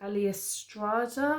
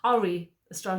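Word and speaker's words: Ari Aster: that the director called Ali Estrada or something like that, Ali something, I can't even pronounce his name, Ari Estrada, not Ali, sorry, Ari.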